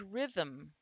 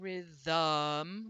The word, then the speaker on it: rhythm: In the word rhythm, rhythm, the M is syllabic. We're not really saying rhythm. We're not dropping our tongue for the schwa sound.